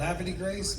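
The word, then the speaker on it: Havre de Grace: I was born in a town above Baltimore called Happy Grace, Maryland.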